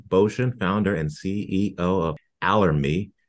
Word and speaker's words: Allermi: founder and CEO of allery a RH with rhymes with ocean a tell Health company